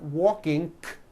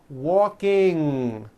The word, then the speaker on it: walking: a c k sound there is not a k sound the word is not walking it's walking with that ng ending okay walking let's practice